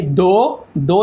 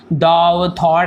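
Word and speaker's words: though: दो यानी क्या होता है, इसे हम थॉट ऐसे नहीं पढ़ेंगे, थॉट अलग होता है, इसे दो पढ़ते हैं।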